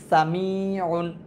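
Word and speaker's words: سَمِيعٌ: তারপর আছে সিন জবর সা, মিম ইয়াজের মি, সামি, সিন জবর সা, এটা হচ্ছে হরকত, আর মিম ইয়াজের মি, মাদের হরফ, আইন দুই পেশ উন, এটা তানবিন, সামিউন, সামিউন।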